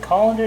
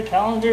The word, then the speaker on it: colander: ahead and get my colander. Is that how you pronounce it? Colander? Calendar? It's not a calendar, it's a colander, right?